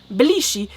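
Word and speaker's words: 比利時: Like the pronunciation is very different. They use like different tonalities, and they have different like. And if you don't say it like exactly with the exact tonalities, they don't understand.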